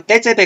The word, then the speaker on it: 테제베: 자, 그리고 떼제베 같은 경우도 테제베라고 써야지 원칙은 맞아요. 발음은 떼제베라고 발음하지.